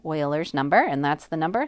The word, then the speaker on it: Euler: it does not repeat e is euler's number so it's pronounced like oil euler's number and that's the